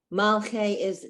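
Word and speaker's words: מלכי: Oh, Malchei, Melech king Malchei of Hamlachim. kings. Oh, Mhm. having the A sound at the end.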